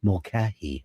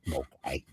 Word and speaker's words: Mulcahy: And this guy was pronouncing it Mulcahy. I was like, what are you fucking Australian? Stop it. Fucking Mulcahy.